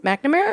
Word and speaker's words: McNamara: I was reading Michelle McNamara. Yeah. How do you say her last name? McNamara or no?